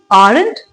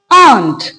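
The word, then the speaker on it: aren't: तो इसको हम क्या प्रोनाउंस करते हैं? आरंट नो it's pronounced as आंट।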